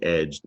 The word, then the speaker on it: edged: Add a D to the end, you have the past tense verb edged, and you don't hear the E.